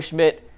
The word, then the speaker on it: Szmyt: Like Andre Schmidt signing off the streets.